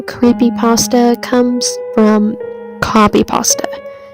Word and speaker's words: copypasta: name creepypasta comes from copypasta which it's really supposed to be pronounced like copy paste uh it started out